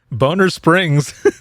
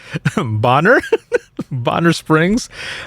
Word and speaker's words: Bonner Springs: said over the radio boner springs then it's pronounced bonner bonner springs my officer asked me